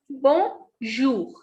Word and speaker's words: bonjour: So the pronunciation of this word is bonjour. We don't pronounce this N. The sound of O and N is on. So B-O-N is bon. J-O-U-R, jour. So this is bonjour.